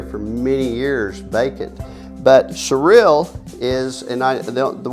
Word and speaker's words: Cyril: can quit stuttering is we're surreal surreal Oklahoma and it's spelled cyr IL not surreal but surreal and just a great